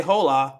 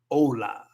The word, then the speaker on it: hola: But no, la U no es silencioso. Solo la H. So don't say hola. It's not hola. It's hola. Hola. With a very hard O.